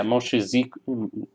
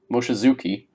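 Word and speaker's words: Mochizuki: that yeah yeah Moshe Zeek that was a horrible pronunciation M Moshe Zuki and he submitted in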